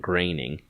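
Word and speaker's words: Groening: um reminds me uh I've heard it rhymes with complaining that's how I've remembered it so it's Matt graining he does long-form stuff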